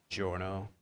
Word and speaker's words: Giorno: and how he's a JoJo is his name's spelled with a G, but uh, Giorno, Joe, Giovanni, Joe.